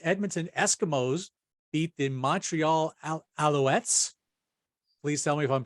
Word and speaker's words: Alouettes: the CFL the Edmonton Eskimos beat the Montreal Alouettes please tell me if I'm pronouncing that right yeah you are okay the